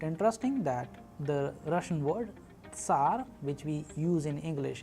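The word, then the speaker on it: царь: You also need to practice as I am pronouncing. The letter's name is S, S, as we have used an English approximation Tsar, Tsar, and in sample Russian word we have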